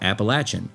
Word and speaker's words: Appalachian: Strictly speaking, if you're from the southern region of the Appalachian Mountains, you pronounce it just like that, Appalachian.